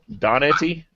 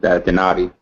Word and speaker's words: Donati: That's Donetti. Donetti. That's the telemarketer pronunciation. Donati.